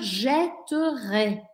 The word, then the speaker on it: jetterai: verbe jeter au futur jetterais je prononce jetterai parce qu'il y a une double consonne d'accord je ne vais